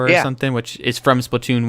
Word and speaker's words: Splatoon: She has been really excited for Splatoon 2. She calls it Splattoon, which is completely wrong, or I don't even know how she says it.